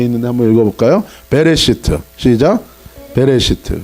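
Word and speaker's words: בראשית: 베레시트. 시작. 베레시트. 그 다음에 엑소더스. 출애굽기는 뭐라고 읽어요?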